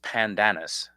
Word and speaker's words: Pandanus: It It's spelled panda anus, but pronounced pandanis.